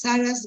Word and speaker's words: Sarah's: Okay, Rosie is Sarah's, you have to pronounce the S, right? Is Sarah's Yes.